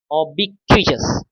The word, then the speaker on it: ubiquitous: Okay, next, ऑबिक्विचस, ऑबिक्विचस। जब कभी आपने पढ़ा होगा हाउ टू प्रोनाउंस, प्रोनाउंसिएशन, तो टी को छ बोलते हैं, सो वी कैन प्रोनाउंस ऑबिक्विचस।